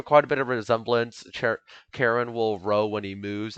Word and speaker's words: Charon: yes it is pronounced karen i had to search it up and um there's also a british pronunciation which is charon i think cheren something like that but the american pronunciation is karen karen's name originates from